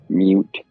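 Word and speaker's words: Mewt: Mute. Sounds like newt, kind of. Like the lizard.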